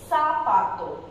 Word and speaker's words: zapato: Though we have mentioned here as zapato, it's not zapato, it's zapato. So it's produce s sound.